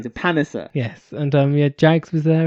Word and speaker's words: Panesar: They call them the Panesar brothers. That's right. So we're EastEnd. We're going for it. Yeah, we're doing it 100%. We're sticking to what they're saying. So Panesar.